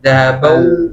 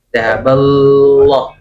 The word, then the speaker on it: ذهب الله: Jadi sebagai patokannya pengucapan lafzul jalalah adalah kita mendahulukan huruf lam daripada waw gitu ya. Dahabal, nah langsung ke lam. Kalau dahabau, nah itu berarti waw dulu. Dahaballah, dahaballah. Nah, nanti wawunya hilang nanti ya.